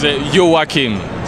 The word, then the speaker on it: Joakim: It's Joakim. So Joakim. It's different. We like saying all the letters in Sweden.